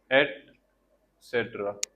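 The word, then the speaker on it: et cetera: इस तरह से बोला जाता है। एट सेट्रा एसेट्रा यह इंग्लिश वर्ड नहीं है।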